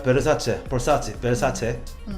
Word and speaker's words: Versace: 10 이게 샤넬이 랍니다 죽죠 4 다음은 꽤 베르사체 볼수 없지 변사체 탄 수 지 아 뭘 어떻게 써요 예 베르사체 라구요 * 사체가 빤스 자가 무슨 뜻이에요 금수저